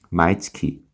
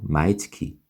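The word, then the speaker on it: 毎月: 가면 돼요 그래서 소모쇼와 마이츠키 그리고이 마이 할 때이 발음이 발음에서도 살짝 물결이 일어나요 마이 마이 올라가거든요 마이츠키 그죠 마이츠키 이런 것도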